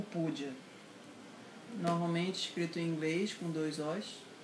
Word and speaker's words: Pooja: Então, o Pudia, normalmente escrito em inglês com dois O's, mas em português seria mais sentido escrever com dois U's, porque a pronúncia é Pudia.